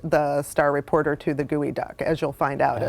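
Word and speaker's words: geoduck: Did the reporter mispronounce the name like I did when I first moved here? No, he actually just thinks it's a gooey duck.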